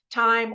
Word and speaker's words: T.I.M.: you want to spend time or money or both sometimes watching a specific film so this specific film I'm reviewing today is called Tim and it's spelled t period i period M period because it stands for